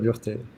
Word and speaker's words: Burtey: Burtey. Burtey. Yes. Burtey.